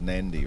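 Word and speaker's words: Nadi: the the city which is spelled na Nardi pronounced nandy right but if you didn't know if you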